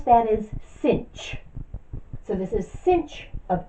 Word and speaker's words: sinh: So we write that as S-I-N-H. The H is for hyperbolic and the S-I-N is for sine. We pronounce that as sinh.